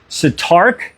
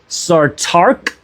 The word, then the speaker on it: Sartaq: Now, that's Satark. I'm sorry I butchered these names. I'm not trying, but it's Sartaq.